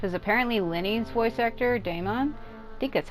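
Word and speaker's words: Daman: say his name um cuz it's not like d AI m o n it's D M A it's like the man it's almost what his name looks like it would be like the man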